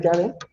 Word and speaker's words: Yahvé: En inglés viene a ser Yahvé, o también en español se puede pronunciar Yahvé, o igual que los judíos, solo las 4 letras YHWH.